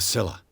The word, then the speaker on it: Scylla: The Scylla.